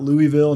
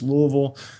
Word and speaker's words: Louisville: Being from Louisville, not Louisville, not Lewisville, it's Louisville.